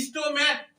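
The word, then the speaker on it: stomach: अब उच्चारण सी एच का कैसा हो रहा है, क जैसा या च जैसा, और अगर क जैसा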